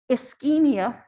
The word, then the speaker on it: ischemia: look at metabolism so from here nursing application ischemia that's how this is pronounced serum lactate and heart attack or myocardial